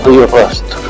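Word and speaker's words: Rio do Rastro: I don't trust it, in the Sierra del Rio Rastro hill of Río Rastro now I've said it right scenarios taken from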